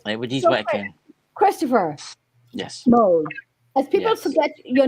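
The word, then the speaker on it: Moule: pronounced well it's Mo it's actually because my great-grandfather was French mle is actually French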